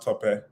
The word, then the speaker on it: Tope: My name is pronounced Tope. Okay. Some of my American friends call me Tope. And Top. so, Okay. it's been a thing. I know a few people with my same name with various pronunciations, by the way. Okay. But yeah, Tope is how to say it.